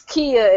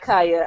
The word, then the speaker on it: Kia: me get this right it's Kia and not Kaa I know how to